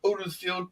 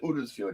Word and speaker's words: Huddersfield: between Nottingham Forest and Huddersfield Town. You got to pronounce it Uddersfield. You can't pronounce it Huddersfield. Uddersfield. That's how they say it there.